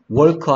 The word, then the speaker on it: walk: Walk 아니고 walk, talk 아니고 talk. 그래서 L이 소리 안 나는 경우들이 있다.